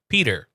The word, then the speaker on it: Peter: There's a D in there, so it's P, and then you say der. Peter. Okay. Peter. P. Peter. Peter. Yeah. Peter. Even the R isn't like a strong R, so it's Peter.